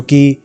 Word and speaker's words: ki: China में इसे ची नाम से पुकारा जाता है, CHI, और जापानीज में इसे की नाम से पुकारा जाता है, मतलब कि KI। तो ये इसकी स्पेलिंग है, ताकि अगर मैं मिस प्रोनाउंस भी